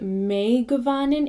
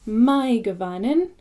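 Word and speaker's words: Mae govannen: So the example, my Gavanin, although it looks like may Gavanin, it's my, because it's I or dine. So it's my Gavanin, and that means well met, which I say in a lot of my videos.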